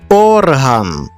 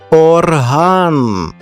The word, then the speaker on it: орган: гладеньку шовкову тканину атлас наше серце Та взагалі будь-яка частина організму це орган та варто перенести наголос на другий склад і ми отримаємо назву музичного інструменту орган на сьогодні все